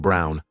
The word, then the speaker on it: Braun: of the historical figure Eva Braun pronounced Brown wife of probably one